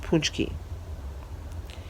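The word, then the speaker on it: pączki: at the hotel but torch keys are this marvelous huge filled donut and it's spelled P AC z ki but pronounced punch key it's polish it's a Polish pastry Eastern European if they're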